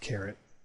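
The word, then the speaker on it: caret: to use this carrot operator it's actually it's pronounced carrot uh so you would want to write this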